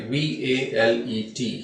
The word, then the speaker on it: valet: Valet, V-A-L-E-T. Here T is silent. It's pronounced as valet, and it means personal attendant or servant.